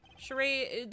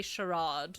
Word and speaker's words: charade: Is it not charade? Charade. The British say sherad, but he's not British.